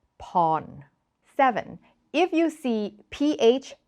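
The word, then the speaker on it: Porn: is an important one if you see an R following a vowel do not pronounce it it is lab not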